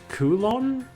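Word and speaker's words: Kowloon: Wait, so is it actually pronounced Koulon? Cuz that's what it sounded like in the voice acting. If that's how it's supposed to be pronounced, why the did they spell it cowoon? You remember, right? The Digimon that helped me in Koon. I'm I'm not going to change how I pronounce it. That's their fault for spelling it that way.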